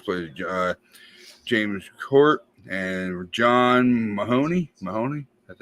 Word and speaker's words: Mahoney: So, and her father, of course, plays James Court, and John Mahoney. That's how you say his name? Yeah. That's her father. That's how you pronounce his name. It's like Tim Mahoney.